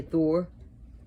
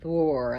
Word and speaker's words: Thor: yours that's fine and you can say thor but not thor like some people thor i like an old long o but whatever i'm not